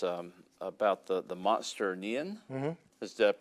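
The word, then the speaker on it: Nian: read about was um about the the monster neon does that pronounce that correctly yeah that's correct okay so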